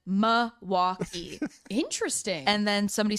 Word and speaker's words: Milwaukee: by hearing them pronounce Milwaukee. Here's a hint. The L is silent. And then somebody said the L is definitely not silent. And then somebody said Milwaukee.